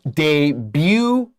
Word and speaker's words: debut: And our next phrase, a debut album. Debut album 注意那个 debut 的 T 不发音，然后它原本是法文，意思就是首张专辑。